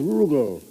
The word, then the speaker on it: Rugal: The name's Rugal. Rhymes with bugle.